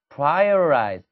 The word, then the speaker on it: prioritize: prioritize 따박따박 읽으면 그렇게 되지만 실질적인 원어민 발음은 prioritize라고 발음할 때도 있지만 그죠? 강세를 받지 않는 T 발음이 R 발음으로 살짝 바뀌면서 prioritize 이렇게 들릴 때가 많아요.